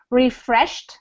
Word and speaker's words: refreshed: they did he felt refreshed so the pronunciation for this edy ending is like more like a tea refreshed which means he felt